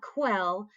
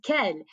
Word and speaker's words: quel: is q-u-e-l and again it's not quell no anytime we have that q u in french it is the k sound so this is ken and in fact we've